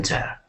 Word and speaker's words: there: So when we pronounce the TH, we want to stick our tongue, okay, in between our teeth.